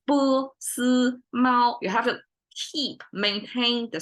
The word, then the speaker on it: 波斯猫: Okay, so when we talk about 波斯猫, when we pronounce it, it's 3 flat tones, and it's not that common because at least we have 4 tonations, right?